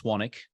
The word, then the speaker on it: Swanwick: find me at swanik my last name is spelled s-w-a-n-w-i-c-k there's a silent W in there I have a podcast